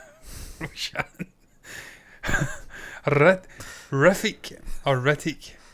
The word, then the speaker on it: Hrithik: I find in India they do pronounce things very sharply. Yeah. So it will be Hrithik. There's no way it's going to be Hrithik. They don't do thick. It's Hrithik.